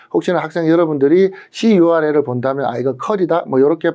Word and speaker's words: curl: 개로 발음할 수 있는데 대부분은 컬이라고 발음 보니까 혹시나 학생 여러분들이 curl을 본다면 이렇게 발음하셔도 될